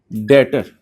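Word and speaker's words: debtor: इसमें B silent है बेटा, डेटर।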